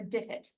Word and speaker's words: Diffit: Driff it or diff it. Diff it. I always say it wrong.